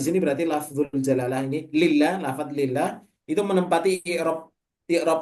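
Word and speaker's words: لله: Kalau tulisannya begini ini bacanya lillah ya.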